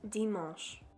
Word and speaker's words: dimanche: And Sunday is pronounced dimanche.